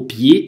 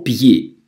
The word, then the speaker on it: pied: «Pied» – это слово читается на улыбке. «Pied», «pied», то есть не «pied», а «pied», «au pied de César». То есть звук «pied» читается абсолютно так же, как первый слог слова «Цезарь». Акцент «aigu» – «э», «э» на улыбке, вытягиваем губы прямо к ушам.